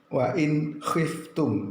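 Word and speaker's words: وإن خفتم: Wa in khiftum ya, tidak boleh mendengung, harus jelas, idhar, terang, jelas. Wa in khiftum cara membacanya.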